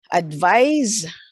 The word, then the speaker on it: advise: the speaker gave advice advise and notice the pronunciation okay advise with an S is a verb the speaker gave advice